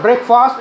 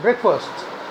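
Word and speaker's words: breakfast: ब्रेकफास्ट हम लोग ऐसे बोलते हैं ना, इट्स नॉट ब्रेकफास्ट, इट्स ब्रेकफास्ट।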